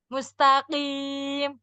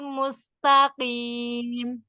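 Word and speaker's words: مستقيم: Ketebalan kofnya kayaknya berat. Jadi yang yang bacanya mustaqim jadi berat ya bacanya ya. Iya. Yang santai aja yang ihdinasiratal mustaqim.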